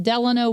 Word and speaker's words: Delano: Franklin Delano Roosevelt.